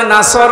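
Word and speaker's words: نصر: ওয়ালফাত হয়েছে এখানে আছে নাসর মানে সাহায্য আর নুন সিন র নাসর মানে ইগল পাখি আপনি যদি মুখটা গোল করে শুদ্ধ করে উচ্চারণ না করেন অর্থ আকাশ পাতাল পাল্টিয়ে আল্লাহ পাক বলেন নবী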